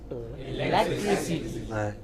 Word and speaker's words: electricity: Electricity. Electricity. What is it? Electricity. It is not electricity, it is electricity.